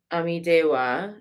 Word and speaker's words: Amitabha: And she's got peacock feathers in her crown, adorned with a magnificent peacock feather crown containing the image of the Buddha Amitabha, Amidewa, sometimes pronounced, which is right here.